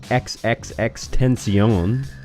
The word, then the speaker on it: XXXTentacion: I came across this post about rapper XXXTentacion. Yes, that is how you pronounce it.